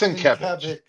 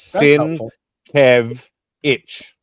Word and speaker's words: Sienkiewicz: It's Sienkiewicz. It's Sienkiewicz. Okay. If you actually go to his website, he actually phonetically puts it on there. Really? It says Sin Kev Itch. Yeah, correct.